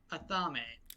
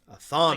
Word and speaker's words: Athame: Athame. Athame. Like the ritual knight. The ritual knight? It's like ritual, like the knife that, like the ritualistic blade that's used in some magic IRL.